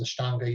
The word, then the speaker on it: Ashtanga: You hear it in the West pronounced Ashtanga Yoga.